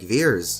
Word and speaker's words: Vers: Captain Marvel's Kree name Vers is pronounced like Veers.